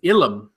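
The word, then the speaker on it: ylem: The word of the week from Andy, I believe I'm pronouncing it properly, is Ilum. It's spelled Y-L-E-M, but I believe it's pronounced, or actually Ilum.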